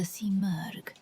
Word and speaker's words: Simurgh: In Persian mythology, the phoenix-like creature is the Simurgh, pronounced Simurgh.